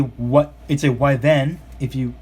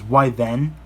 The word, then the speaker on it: Wyvern: Kingdom viewers out there, it's a Wyvern, since you pronounce it that way. So, yep. Yeah. And of course, here in the States we pronounce it as Wyvern, but in the UK it's pronounced as Wyvern.